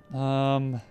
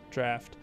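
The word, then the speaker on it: Draught: Drought. God, I already forget. Draft. That's what somebody told me. How is it pronounced? Draft.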